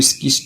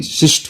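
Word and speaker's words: schist: Basalt and trap शिस्ट, कुछ लोग इसको स्किस्ट भी पढ़ते हैं, लेकिन शिस्ट होता है ये, शिस्ट।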